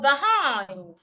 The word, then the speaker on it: behind: In the word market, I also need to say the first part louder, longer, and clearer. But in the word beyond or behind, it is a second